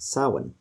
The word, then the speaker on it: Samhain: to know it as it's actually a gaelic word and it's pronounced samhain uh so houdini the